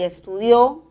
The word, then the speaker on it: estudió: El acento va a la última sílaba y es necesario la tilde de la aguda. Estudio, palabra grave, y estudió, palabra aguda, con tilde.